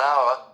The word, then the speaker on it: hour: An architect, an idea, an umbrella also use and with words that start with the letter H when the H is not pronounced. An hour, an on a definite article.